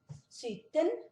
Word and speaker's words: sytten: 17 é sytten, lembra que o Y é uma vogal e tem som de I, sytten.